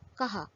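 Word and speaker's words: کہا: Chhoti Kaf, Gol Hai, Alif is Kaha, to say. Chhoti Kaf, Do Chashmi Hai, Alif is Kha, to eat. In the first example, the sounds of Chhoti Kaf and Gol Hai are pronounced separately.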